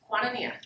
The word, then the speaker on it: Koinonia: So is it Koinonia? Quantania. Quantania. All right.